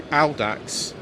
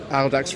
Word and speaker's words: Audax: It's based on the Audax type Manx. I will say Audax rather than Audax, because when I was doing Latin A level, that's the way we used to pronounce it.